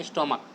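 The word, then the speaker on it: stomach: करके स्टोमक्स बना लेंगे, नहीं स्टोमच नहीं होता, स्टोमक, ठीक है। तो स्टोमक इसमें, तो इसलिए चूंकि इसका प्रोनाउंसिएशन क्या होता है, CH का क होता है, इसलिए सिर्फ ओनली एस ऐड हुआ है।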